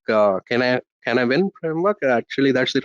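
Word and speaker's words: Cynefin: So thanks to Dave Snowden's, this is his Cenavin framework. It's pronounced very differently, so it's also pronounced like Canavin framework.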